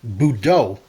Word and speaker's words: Budo: code name in Japanese it would be pronounced Budo with the emphasis on the second syllable boo meaning marshal and